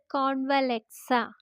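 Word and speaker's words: Convlexa: നമുക്ക് സ്വിച്ച് വേർഡിലേക്ക് വരാം ഇത് ഒരു ഇറ്റാലിയൻ സ്വിച്ച് വേർഡ് ആണ് അതുകൊണ്ടുതന്നെ ഇതിന്റെ ഉച്ചാരണം കുറച്ച് വ്യത്യാസമാണ് നമ്മൾ കേട്ട ഇതുവരെ കേട്ട സ്വിച്ച് വേർഡ് പോലെയല്ല കുറച്ച് വ്യത്യാസമായിട്ടുള്ള ഒരു സ്വിച്ച് വേർഡ് ആണ് സ്വിച്ച് വേർഡ് ഇങ്ങനെയാണ് ഉച്ചരിക്കേണ്ടത് കോൺവലക്സ കോൺവലക്സ കോൺവലക്സ സി ഒൻ വി എൽ ഇ എക്സ് എ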